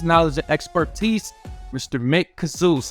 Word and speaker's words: Khzouz: some of his knowledge and expertise Mr Mick kazoo how you doing Mick wonderful thank you and thank you for pronouncing my name correctly I did it I